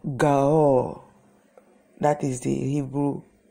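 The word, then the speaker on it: גואל: In the Hebrew Bible, in the Hebrew word for Redeemer, the Redeemer, it's called Gaol. That is the Hebrew pronunciation of the Redeemer.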